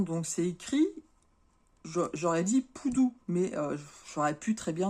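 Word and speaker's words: Pudu: le Poudou du Sud donc ça s'écrit P u d u mais ça se dit Poudou alors j'ai eu un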